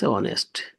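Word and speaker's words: honest: এই অনেস্ট ওই এসটি হচ্ছে এই কিন্তু উচ্চারণ হিডেন থেকে যাচ্ছে।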